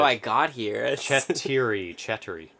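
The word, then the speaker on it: четыре: Cheddary. Not Cheddary? Cheddary. There's such a subtle difference. It's a Russian word for four.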